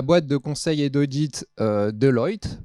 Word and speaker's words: Deloitte: de conseil et d'audit Deloitte, j'ai appris qu'il fallait prononcer à l'anglo-saxonne, pour aider donc à mener à bien l'évaluation.